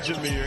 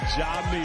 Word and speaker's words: Jamir: It is not Jamir, it is Jamir.